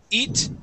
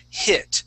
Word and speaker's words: hit: second sentence okay uh eat eat was a heat okay make sure that we're using I and a short I sound it was a hit try that it was